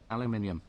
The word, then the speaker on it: aluminium: Aluminium. Thank you, Vernon. He knows how to say it. It's actually aluminium.